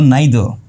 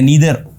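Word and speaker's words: neither: ही इज़ अब जब कोई व्यक्ति दोनों जगह से नहीं है तो नाइदर या नीदर जिसको प्रोनाउंस भी करते हैं हम।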